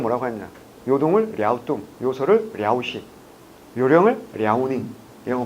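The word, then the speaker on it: 랴오둥: 뭐라고? 랴우뚱이라고. 왜? 현지 발음을 표기하는 게 우선이기 때문에. 하지만 우리 공무원이 제일 늦게 가거든.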